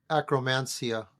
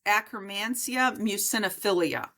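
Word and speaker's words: Akkermansia muciniphila: You said acromancia, I believe. That is that the correct pronunciation? It's acrimancia mucinophilia.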